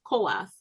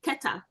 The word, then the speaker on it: Kohath: If you look at the Masoretic spelling of Kohath, you wouldn't pronounce it as Kohath if you read it. There's no indication that it should be pronounced as Kohath.